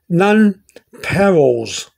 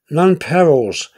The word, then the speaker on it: nonpareils: e i l s there's three ways to pronounce that my way in a lot of people's way also none perils non-perils now some people pronounce